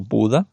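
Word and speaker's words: Bodø: Bueno, miento, estuve en una pequeña ciudad que fue donde cogí el ferry hacia la Slowfoten, que fue Bodo o Buda se pronuncia.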